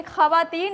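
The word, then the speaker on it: خواتین: की आवाज देती है लेकिन खवातीन ऐसी चीज है जहां पर यह भी चुप नहीं रह सकता यह भी यहां व की आवाज आ रही है।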